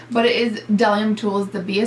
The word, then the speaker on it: Bdellium: it should be so done tools the beat is silent you want to say bdellium and I want to say it and I do say it bdellium but it is bellum tools to be a silent these are fantastic